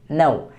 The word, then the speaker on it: know: तो इसकी इंग्लिश क्या होती है, KNOW, नो। कि नो नहीं पढ़ेंगे इसे, K is silent here, this is called नो, KNOW, नो।